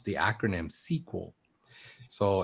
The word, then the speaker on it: SQL: actually pronounce the acronym sequel so it's pronounced it's spelled sql but it's pronounced sequel and it's it means